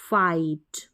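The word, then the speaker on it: fight: उच्चारण होता है ट तो बन गया स site site site S आई जी एच T site आगे बढ़ेंगे तो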